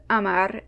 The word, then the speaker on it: hamar: In fact, the silent H can lead to the dropping out of the H in the word entirely, at least when it comes to spelling.